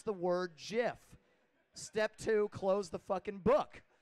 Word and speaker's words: GIF: could ever open up it says step one pronounce the word jiff step two close the book